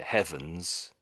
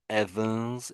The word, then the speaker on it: heavens: the places where the the word starts with an H. So, such as this word here, heavens, you you really sort of missed out the H at the front of the word and you sort of said Evans. Evans.